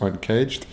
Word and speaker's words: UNKJD: video this is where I learned how to pronounce uncaged it's not the actual video that I looked